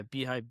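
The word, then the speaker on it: beehiiv: So yeah, Beehive. Be e h iv is how they spell it.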